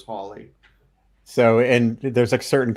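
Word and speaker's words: Halley: Well, actually, in his day, it would have been pronounced Hawley. Holly, yeah, A lot of Hallie. people typically say Hallie now, but the proper pronunciation was Hawley.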